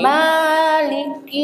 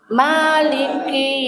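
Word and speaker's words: مالك: Ditontasi dikit dikurangi. Maliki panjangan. Maliki. Maliki yaumiddin.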